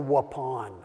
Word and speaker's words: Waupun: Fond du Lac Wisconsin a little town called Waupun the only reason I remember how to pronounce it is because it's like please pass the gray Poupon you know that's how